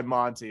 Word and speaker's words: Monte: a real cool guy he actually goes by monty but it's spelled monte but i'm like yeah